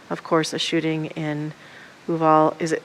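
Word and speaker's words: Uvalde: course a shooting in uval is i want to say it right oo valley of all day yes thank you i've been practicing it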